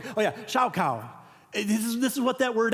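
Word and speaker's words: שָׁחָה: Oh yeah, shaukau.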